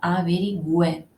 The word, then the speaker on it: bilingüe: por ejemplo javi lingual veis que lleva esos dos pequeños puntos el lado que quiere decir que se pronuncia bilingüe y entonces es una